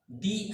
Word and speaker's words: the: तो इसलिए इससे पहले आए हुए इस डेफिनेट आर्टिकल को हम पढ़ेंगे क्या? इसको हम पढ़ेंगे, दी एस। अम्ब्रेला यू से शुरू है। यू बेसिकली है क्या? वोवेल है और साउंड भी वोवेल का आ रहा है। तो इसलिए हम जो है इसको पढ़ेंगे दी अम्ब्रेला।